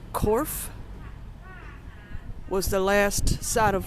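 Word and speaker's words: Cobh: In relation to shipwrecks, town nearby here, spelled C O G H, pronounced Corf, was the last side of land for many Irish immigrants as they left here and there.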